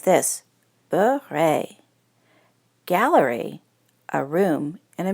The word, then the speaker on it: beret: You say it like this, beret.